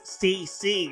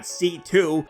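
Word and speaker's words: C.C.: her name is ridiculous it's CC not C2 where do you get the toe from God everyone's so stupid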